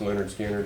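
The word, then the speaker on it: Lynyrd Skynyrd: them very well it's that weird one it's pronounced Leonard skinnard whatever that album is I think anyway let's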